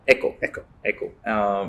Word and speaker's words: Eko: You pronounced EKO or Echo? Echo. It is really, we wanted Echo to Echo, ECHO.